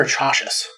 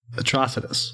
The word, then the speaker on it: Atrocitus: Is it Atrocitus or Atrocious? Atrocitus, like atrocity.